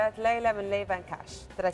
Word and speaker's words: LeiVanKash: maximizer M light Pearl serum milon Lea Le van cash did I say it right yes you did